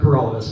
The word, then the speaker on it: Paralovis: So now we have Paralovis. Thank you. My name is Paralovis, and that rhymes with for all of us.